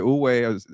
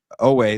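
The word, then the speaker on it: Oweh: Yeah, you want Odafe Uwe. How do you say last name? I butchered Odafe Owe.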